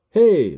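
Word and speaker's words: ה: hey I'm and this video will acquaint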